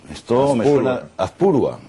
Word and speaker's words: Azpurúa: Don Azpurúa, bienvenido a Magabusiness. Muchas gracias, encantado de estar aquí. Azpurúa, esto me suena... Azpurúa. Ah, pues me han puesto el acento en el otro sitio.